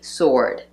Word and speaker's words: sword: In American English, we would say sword. The W is not pronounced.